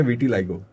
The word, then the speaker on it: vitiligo: सो इसको सही ढंग से प्रोनाउंस करते हैं विटिलिगो, राइट?